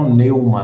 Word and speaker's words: Von Neumann: modelo de bom Norma a pronúncia É essa mesmo tá né vou Neuma não esse Norma aqui é Neuma é esse meu em inglês ele tem uma pronúncia é de oi né a noiva essa pronúncia correta então é bom em uma mesmo